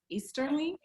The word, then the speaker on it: Easterling: And then we also have Chad Easterling. Did I pronounce it right?